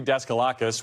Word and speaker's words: Daskalakis: Demetre Daskalakis, one of the several top CDC officials who resigned in protest last month following Dr.